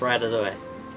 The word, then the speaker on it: Ratatouille: It shows you the pronunciation right here. Rat, a, to, eh. So it's Ratatouille.